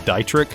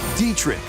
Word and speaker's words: Dietrich: A lot of you grilled me in the last video for mispronouncing his name as Dietrich, and in this video, his name was officially said out loud, Dietrich.